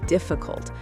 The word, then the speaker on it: difficult: It was difficult but he remembered everything he studied. Difficult difficult. Stress on the first syllable.